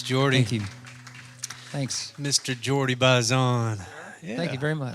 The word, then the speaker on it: Jordi Baizan: Jordi Baizan is good. That's the American version of it. And what would the other version be? My dad's from Spain, and Right. my mom's Cuban, and the correct pronunciation is Jordi Baizan.